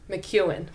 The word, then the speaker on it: McKeon: it again it's spelled m-c-k-e-o-n but it is pronounced mckeon mcewen yeah hence why i didn't say it right